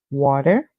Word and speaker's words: water: put it all together W and water this is the British pronunciation the American pronunciation would be because Americans pronounce the T as a d song so the Americans would say water the British would say